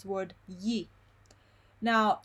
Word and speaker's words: gli: This trick gives you an approximate, very close variation of the sound y.